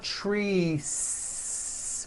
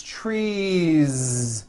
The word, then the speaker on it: trees: on a voiced Z so here we go you've got one tree or two trees it's not trees with an unvoiced S it's trees with that voiced ending you see that another